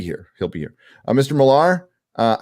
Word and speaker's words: Millar: pronounced people are saying even though it's AR it's still pronounced Miller well now so so